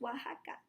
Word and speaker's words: Oaxaca: that it's the name of the state it's pronounced Oaxaca and here at this star is Oaxaca City